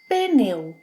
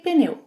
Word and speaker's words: pneu: How do you pronounce this one? Some Brazilians say pneu, pneu. Others may say pneu, pneu. I say pneu.